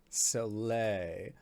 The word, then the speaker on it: Soleil: and opal soleil okay like cirque du soleil soleil got it um so uh opal